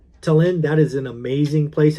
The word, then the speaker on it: Tallinn: But there is one city in the Baltics that's like a storybook, and that is Estonia, Tallinn, I think it is pronounced. Tallinn, that is an amazing place.